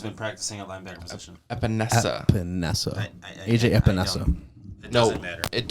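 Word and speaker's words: Epenesa: who gets pissed off if I said his name wrong. AJ Epinenza can also play a line or has been practicing at linebacker position. Epinesa.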